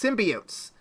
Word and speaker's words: symbiotes: That's right, they're pronounced symbiotes. Let no one tell you otherwise.